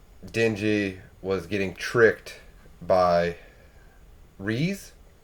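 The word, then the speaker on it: Reze: was getting tricked by reese that's how i'm gonna pronounce r-e-z-e like i feel like reese is a good so it picks up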